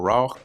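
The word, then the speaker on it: רוח: here the word here they have raak all right or ra we we we pronounce it as ra right so ra um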